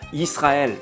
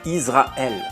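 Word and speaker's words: ישראל: De ce fait, ce mot se prononce alors Israël et pas Israël, car sinon il y aurait la lettre zaïn à la place du sin, et l'on parlerait ici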